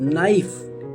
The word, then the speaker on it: knife: नाइफ KNIFE, नाइफ का मतलब होता है चाकू। नॉक KNOCK, के यहाँ पर साइलेंट होता है, यहाँ नाइफ में भी के साइलेंट होगा।